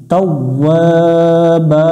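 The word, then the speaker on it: تَوَّابًا: এক আলিফ টান দেব বা আলিফ দুই জবর বা দম ফেলার কারণে এখানে একটা জবর বাদ দেব একটা জবরের উচ্চারণ করব এক আলিফ টান দিয়ে তাওয়াবা ইন্নাহু কানা তাওয়াবা এতক্ষণ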